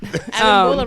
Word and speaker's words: Abimbola: Abimbola rhymes with Abishola.